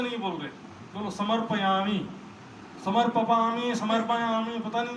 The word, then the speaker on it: समर्पयामी: मैं बीच में गया था एक जगह, मैंने देखा समर्पयामी ठीक से नहीं बोल रहे, बोलो समर्पयामी, समर्पयामी, समर्पयामी, पता नहीं जो है मुख से जीभ लड़खड़ा रहा है।